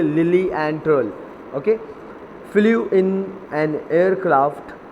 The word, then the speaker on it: Lilienthal: देखिए इसकी नीचे प्रोनाउंसिएशन भी आपको दी हुई है, लिलिएंथल.